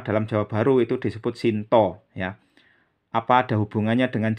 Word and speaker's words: Sinta: istri Rama itu Sita sedangkan dalam jawab baru pengucapannya diseragamkan Shinta menjadi Shinto istri ramai itu Sita menjadi Shinto juga ya Jadi kalau Jawa Baru nama wuku dan nama apa top istri ramai itu sama-sama disebut Shinto kalau Jawa kuno beda